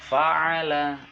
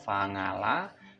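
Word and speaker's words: فَعَلَ: Fa'ala, ain adalah agak dalam, jadi fa'ala. Apabila masih membacanya fa'ala atau fa'ngala, silahkan dilatih kembali dengan cara membaca fa'ala.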